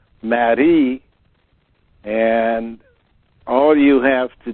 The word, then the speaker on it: Marie: In French, it's pronounced Marie, and all you have to do is spend enough time thinking about this process.